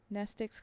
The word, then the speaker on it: Mnestics: Mnestics class W, X, Y, and Z. Same Greek root as the word mnemonic. The M is silent.